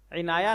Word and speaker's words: عنایہ: منتخب کیا جاتا ہے۔ تلفظ اور اعراب: عین کے نیچے زیر، نون پر زبر، یا پر زبر اور ہا پر جزم، یعنی عین زیر عین نون الف نا عینا، یا ہا زبر یا عنایہ۔ وضاحت: عنایہ یا عنایہ